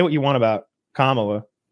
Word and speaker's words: Kamala: Like say what you want about Kamala. Did I say her name right? Yeah, you did. You did.